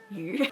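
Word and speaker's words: 鱼: It's also pronounced yu.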